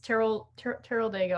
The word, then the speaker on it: Teroldego: So it's Teroldego, I think is how you say the grape.